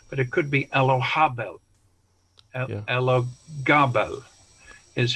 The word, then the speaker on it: Elagabal: It could be Elohabal. Yeah. With a strong H sound, ha, which they couldn't pronounce in Latin. Yeah. So they transcribed it as a G, but it could be Elohabel. Elagabal is how it's written